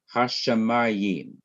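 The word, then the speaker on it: הַשָּׁמַיִם: Hashamayim. Let's see how many syllables we have here. Hash, sha, that's second. Ma is third. Im is fourth. 4 syllables in this word. Here's another word, haaretz.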